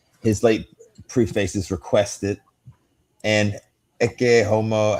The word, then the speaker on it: Ecce Homo: His late prefaces requested and echomo, how do you say that again? Eomo.